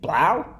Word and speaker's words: 3LAU: There's a lot of people, I'm going to say Blau, I think is how you pronounce it.